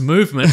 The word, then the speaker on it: MVMT: We had to wait until they gave us the copy and it said pronounced movement.